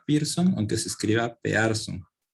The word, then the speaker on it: Pearson: coeficiente de correlación de pearson por cierto se pronuncia pearson aunque se escribe a apearse y se representa